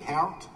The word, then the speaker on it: Peart: Peart's sandwich. It's just Peart. You sure that it's not Peart?